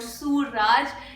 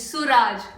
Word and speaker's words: Suraj: And yes, I know you guys tell me it's not Suraj, it's Suraj, right?